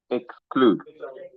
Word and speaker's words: exclude: So, the e here will not sound e. It will sound a Exclude.